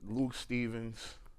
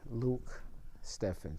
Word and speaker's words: Luc Stephen: His Luke Stevens, you I mean, director, please let me I want to say I I'm glad you cleared it up for me.